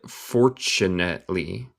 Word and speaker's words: fortunately: And fortunately, otra vez el T suena como CH. And fortunately, y fortunamente, y con fortuna, was just in time to see it pop down.